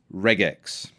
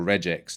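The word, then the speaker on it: regex: Change the match type to, and this is getting a little bit technical here, matches reg x or reax, depending on how you choose to pronounce it.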